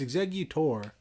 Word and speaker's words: Exeggutor: when I have an execute execu cute it's exeggutor but execute execute ex you cute it's like